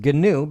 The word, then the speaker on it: GNU: good gnu/linux gnu/linux okay gnu/linux and and it's pronounced ganoub because richard stallman who started all this with